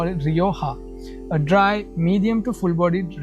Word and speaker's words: Rioja: We call it Rioja. So it's from Spain, Spanish word, Spanish name for a region, Rioja. We don't pronounce it Rioja, so we call it Rioja, a dry, medium to